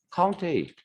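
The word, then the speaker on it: COUNTA: 카운트라고 읽는 분도 있고 뭐 카운트 A라고 읽는 분도 있고 저는 그 카운트 A라고 읽을게요. 그냥 이것도 바로 하겠습니다. 이거 카운트 A.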